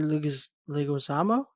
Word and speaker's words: Leguizamo: John Leguizamo. Did I just butcher the shit out of that?